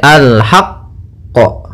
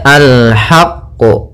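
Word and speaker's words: الحق: bertasdid maka alhaqqu ya tapi tidak sampai sakta jangan sampai alhaqqo gitu ya atau tambahan qo gitu ya ya alhaqqu ya Alhaq ya tidak alhaqq gitu ya tapi dia bacanya alhaqq Ya alhaqq ya kita tekan qnya baru kita pantulkanyaa pada lafalansya di sini ada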